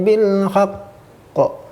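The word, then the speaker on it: بالحق: Akbar itu jikalau huruf qalqalah berada di terakhir yang bertasydid. Wa tawasaw bil haqq. Cara membacanya beda pula. Dia itu kalau berada di terakhir dan mengandung tasydid ada sedikit saktahnya, Itu bukan saktah, itu sebenarnya bagian dari syiddahnya.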